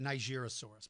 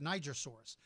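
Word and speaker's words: Nigersaurus: the strangest this is Niger Soros named for Niger Africa or some people call it Nigeria source because of you if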